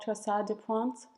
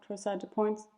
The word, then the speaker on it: torsade de pointes: The last type is called torsade de pointes tachycardia, or torsade de pointes, depending on how you want to pronounce it, which is a ventricular tachycardia.